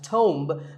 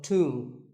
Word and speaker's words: tomb: It's often wrongly pronounced as tomb, but the B is silent and the O is pronounced with an oo sound. So tomb.